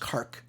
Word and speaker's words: Kharg: By the way, it's pronounced Kharg with a K on the end of it, not a G.